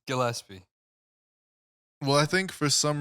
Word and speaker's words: Gillespie: G it's Gilespie it's Gillespie well I think for some reason humans are just uh FES matter with you dude it's not a j bro it could be nope